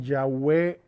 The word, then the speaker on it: Yahweh: Me parece que en hebreo suena más bien Yahweh que Yahvé, nosotros decimos Yahvé.